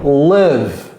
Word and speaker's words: live: Alors, vous voyez comment j'ai prononcé ça? J'ai dit quoi? Leave. Ce verbe, c'est live. Live. Et ça, ce I, on l'appelle a short I.